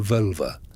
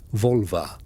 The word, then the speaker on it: Völva: The Völva. Pronounced something like Volva.